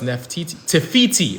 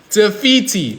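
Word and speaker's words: Te Fiti: Tefiti. Okay. Tefiti.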